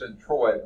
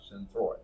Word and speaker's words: centroid: for your thoroughly okay so this is centroid not synthroid so if I mispronounce